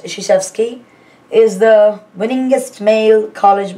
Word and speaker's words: Krzyzewski: Duke University basketball coach Mike Krzyzewski, it's pronounced Krzyzewski, is the winningest male college basketball coach in history with 976 career wins as of February 2014.